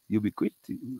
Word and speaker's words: ubiquitous: We know now that binary systems are ubiquitous.